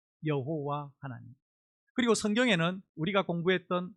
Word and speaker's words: 여호와: 빨갛게 됐고 어 Y하고 빨갛게 된 몸을 붙이면 야가 되고 H와 O를 붙이면 호가 되고 W와 L를 붙이면가 되고 마지막 H는 발음하지 않습니다.